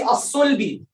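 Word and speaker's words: الصلب: Okay, let's see as-sulbi. Same thing. Tell me how we're gonna pronounce this word. How we're gonna pronounce it? Huh? All of you, 1, 2, 3. All of you say it. As-sulbi.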